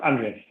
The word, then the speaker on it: Andreas: a cottage up in Andreas. Is that how you pronounce it, Paul? Almost, Andreas.